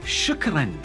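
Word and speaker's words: شكرا: It is shukran.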